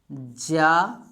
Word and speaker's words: ज्ञ: इसे शुद्ध रूप से अगर बोला जाए सही उच्चारण रूप में तो ये होता है ज्या। क्या होता है? ज्या। क्या होता है? ज्या होता है। लेकिन हम लोग ज्ञा ज्ञा कहते कहते ज्ञा ही सीख लिए हैं।